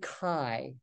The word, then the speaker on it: chi: No, don't say X, say chi. That's not an X, even though it looks like an X. It's a chi, Greek letter, capital chi, C-H-I if you want to spell it in English. But don't say chi, say chi.